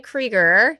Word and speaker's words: Kriger: Ryan Kger. Did I Did I pronounce that correctly?